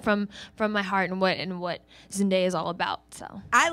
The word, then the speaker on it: Zendaya: I call it Zendaya actually because people always mess up my name. Yeah. And it's like Zendaya, Zendada, like it just gets crazy, right?